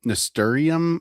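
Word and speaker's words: nasturtium: Um so, um ntorium uh attracts the aphids away. Is it is it ntorium? Is that how you pronounce that?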